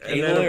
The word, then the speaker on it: Aloy: of the Old Republic aloy or aloy I call Alo they pronounce it aloy in the aloy yeah